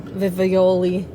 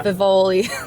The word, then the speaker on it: Vivoli: But I think what I'm going to go for is that Italian, I say it wrong, Vivioli. Yeah. Vivoli. That one.